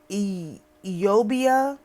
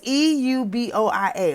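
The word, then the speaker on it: Euboea: of the river Asteron, Eubia, but Eubia is Euboia, okay?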